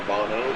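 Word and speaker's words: Bounou: I suppose he'd be the second most famous Bono, or Bono, that most of us are probably aware of. I believe the pronunciation of his name is Bono, even though it's spelled B-O-U-N-O-U.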